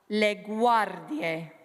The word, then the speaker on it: le guardie: So, oela, le guardie. Lovely. And if you can roll your R, that's a nice rolled R because it's next to a consonant.